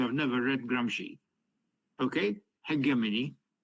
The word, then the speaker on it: hegemony: never read Gramsci, okay, hegemony. Hegemony, I'm pronouncing it closer to the Greek origin, rather than hegemony, which is more Italian, hegemony.